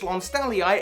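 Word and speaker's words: lonsdaleite: Of which Lonstalliite, as I've now realized it's pronounced, it is said to perform 58% more effectively than Diamond when subjected to certain strength tests.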